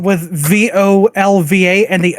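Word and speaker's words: Völva: Yeah, because specifically that it's spelled with VOLVA and the O has an umlaut above it.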